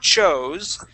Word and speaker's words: chose: So that with one O, it's chose. With two O's, it's choose.